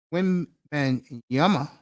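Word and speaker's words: Wembanyama: NBA Mega star and his name is Victor when and Yama I finally said it right and I was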